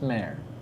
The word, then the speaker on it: Mar: Okay, that's The sea would be Mar. Mar. Okay, that Ah, makes more yeah. sense. But it's pronounced mare.